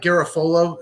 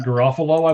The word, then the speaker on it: Garofalo: I emailed you, Mike Garafolo, who's an insider at NFL Network. Did you see his tweet? Mike Garofalo, I believe, is actually how it's pronounced, but that's okay.